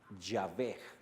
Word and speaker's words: Yah: Y por cierto, si tomas estos dos y los pones así en pares, si hablas con una... En el hebreo no hay vocales, pero no se dice Y, se dice Yah.